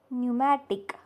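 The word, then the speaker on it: pneumatic: second word काय आहे न्यूमॅटिक spelling P एन य M eighty I सी पी आहे पण उच्चार होत नाही थर्ड न्यूमॅटिक्स पी एन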